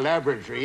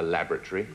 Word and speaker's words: laboratory: What is a laboratory? A laboratory is a place where we do experiments. Ah, a laboratory. Laboratory. Do you go to the lavatory?